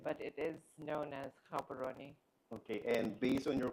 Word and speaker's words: Gaborone: So can you have how do you pronounce that? Is it Gabberon? Habaroni. Oh my god. That's too far. Sorry. But thank you for pronouncing it. Gabon is fine. Most foreigners would would say Gabberon.